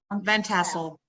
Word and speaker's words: Van Tassel: welcome to, how do you pronounce it? Van Tassel. Van Tassel.